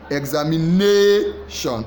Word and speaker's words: examination: The answer should just be the examination. So the straight one is NA. It's not X. It's not A. No, it is examination.